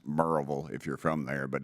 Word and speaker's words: Maryville: what post where is it sir marville it's pronounced merille if you're from there but it's you would pronounce it Maryville m a r y v i l l